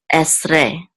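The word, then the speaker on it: עשרה: So we know that the accent is on the last syllable. So this is esre.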